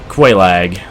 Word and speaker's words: Quelaag: Me and Quelaag. And that is how you pronounce her name.